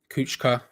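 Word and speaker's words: Kucka: for that lose out kuchka here's how you pronounce it not cooker as i would say he's trying to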